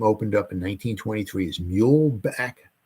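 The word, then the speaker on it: Muehlebach: up in 1923 is mule Back Field I think that's how you pronounce it m-u-e-h-l-a-b-a-c-h field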